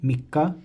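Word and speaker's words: みっか: So first day is Tsuitachi, second day is Futsuka, third day Mikka, fourth day Yokka, fifth day Itsuka, sixth day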